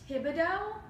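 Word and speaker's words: Thibodaux: leg up here because I know a little French so is this Thibodeaux is that correct yes okay unroll that comes with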